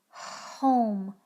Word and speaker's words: home: Don't say omi. The E is just there to do the spell. It doesn't say anything. It's completely silent. Om, om, home, home.